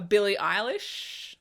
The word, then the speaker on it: Billie Eilish: Anyway, they were doing karaoke and Nora starts singing a Billie Eilish, that's how you say her name, song.